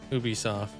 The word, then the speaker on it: Ubisoft: Sauce pronounce it like um like you but soft Ubisoft.